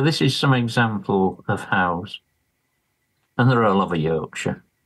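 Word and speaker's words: haugr: So this is some example of Howe's. And they're all over Yorkshire. And quite why I didn't cotton on to this before, I don't know. So wait, Howe is how you pronounce that? H-A-U-G-R? Yeah.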